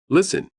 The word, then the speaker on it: listen: In this word, we have two silent letters. First K and W. Listen.